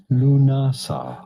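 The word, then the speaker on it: Lughnasadh: Lugnaza. What even? Well. Pronouncing it Lunasa. Lunasa. Pretty straightforward once you know.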